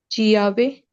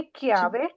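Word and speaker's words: chiave: लगाया हुआ है क्योंकि अगर हम आका नहीं लगाते तो ची ई आ वी ए तो क्या बनता दीपी चियावे चियावे फिर बन रहा था चियावे तो क्योंकि ये लफज़ की प्रोनाउंसिएशन सही नहीं होती जहां पे हमें काफ की आवाज की जरूरत होती है तो वहां पे हम दरमियान में आका लगा देते हैं जैसे कि क्यावे चाबी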